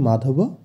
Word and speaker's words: মাধবঃ: প্রথমে আছে মাধবঃ। আমরা জানি শব্দের শেষে বিসর্গ থাকলে সেই জায়গায় হয়ের উচ্চারণ হয়, তাই এক্ষেত্রে মাধব তার সাথে হ যোগ হয়ে হবে মাধবঃ।